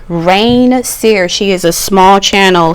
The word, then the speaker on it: Reign Seer: Rain Seer. Rain Seer. She is a small channel, so definitely find her. Her name is spelled REIGN SEER.